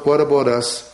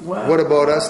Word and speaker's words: W'at Abowt Us: happen if we spelled what about us phonetically okay how would that sound well first of all you don't pronounce the h so take out the H and put an apostrophe and the word about